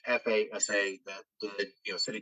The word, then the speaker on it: FASA: was out by the Chicago company I always mispronounce it it's FASA that did you know City technology totally there